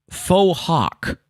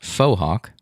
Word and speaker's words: fauxhawk: is new and also faux hawk which is a hairstyle resembling a mohawk pronounced fauxhawk fauxhawk not faux hawk oh fauxhawk foha thank